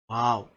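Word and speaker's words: واو: But it's the same when you this is not the same letter as V. No, it's not the same English letter as V.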